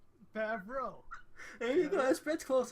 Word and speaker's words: Favreau: There's no R before the E. Well, how do you say it? Favreau? You just added an I. Favreau.